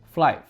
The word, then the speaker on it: Flife: Dan sebelumnya perkenalkan dulu nih sebuah brand dari sister company-nya GR yaitu Flive. Yes, bacanya ini Fli ya guys. Bukan Fli apalagi Flive itu udah ngacau banget.